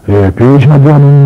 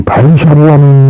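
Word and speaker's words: Vaiśālī: 우리가 옮겨 쓴 거이고 베샤리라는 말은 무슨 말인 거니 판례고 이 바이샤리라는 말은 산스크리트어입니다. 그래서 판례를 중심으로 말하면 베샤리라 그래야겠지만은 산스크리트 문장이 있기 때문에 이거는 산스크리트로 발음해갖고 바이샤리라 그런 거죠.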